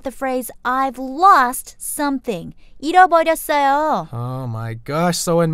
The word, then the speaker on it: 잃어버렸어요: 잃어버렸어요. Good idea. 잃어버렸어요.